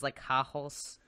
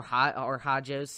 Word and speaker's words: Hajos: It's Hajos. Right. Or Hajos, if I want to be pronounce the J. I think you were right the first time.